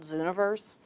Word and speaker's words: Zooniverse: What happened was one of my old coworkers told me about Zooniverse. It's spelled universe, but with a Z-O-O.